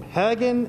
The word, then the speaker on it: Haggin: tell you guys is pronounce hagen museum hagen as a dragon i was slapped in